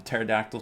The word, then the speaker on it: pterodactyl: going to call them pterodactyl tabards, because I know they start with a P and the P is silent.